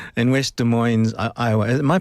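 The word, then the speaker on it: Des Moines: In West De Moines's Iowa. Am I pronouncing that correctly? I think it's De Moine without the S. De Mo. So it's not De Moines.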